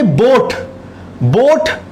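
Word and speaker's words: boat: Third example देखिए, बोट नाव होती है, देखिए बोट, ओ का साउंड आ रहा है, लेकिन बोआट तो नहीं है ना, ए का साउंड नहीं आ रहा।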